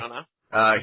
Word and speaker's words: Branagh: Kenneth, I'm saying his name wrong, Branagh. No, that's his name. Kenneth okay. Branagh.